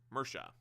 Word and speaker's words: Mirce: Okay, so like right here, Mirce, it's Mersha, and Anglican for it.